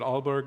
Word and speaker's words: Aalborg: hold positions in Denmark including visiting researcher at Aalborg University did I pronounce that correctly that's correct thank you and